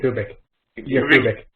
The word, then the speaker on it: Yakubik: How do you pronounce that last name? Yakubik.